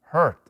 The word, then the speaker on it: hurt: No se pronuncia hurt, ni tampoco hurt, sino hurt. Es un sonido un poquito raro que ustedes lo tienen que aprender ese día. Hurt. Así es como casi, como que ni suena la voz.